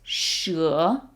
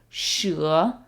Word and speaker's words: 蛇: And the word for snake is 蛇, 蛇. Even though it looks like she in English, don't be tempted to pronounce it as she. It's 蛇.